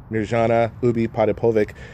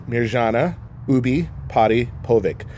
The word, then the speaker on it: Mirjana Ubiparipovic: So Mirjana Ubi Potapovic. So it's kind of like Maury Povich.